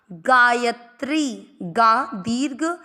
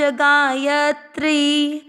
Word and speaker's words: गायत्री: एक पूरा अक्षर है; 'गायत्री' में 'ग' का उच्चारण लंबा होता है, 'या' में 'अ' का उच्चारण मिश्रित होता है, और 'त्रि' में 'इ' स्वर लंबा होता है, इसलिए इसे लंबा पढ़ा जाता है।